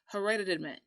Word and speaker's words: hereditament: And our word for the week in that vein is, make sure I can say it right, hereditament. Hereditament. It's a T, but it sounds like a D.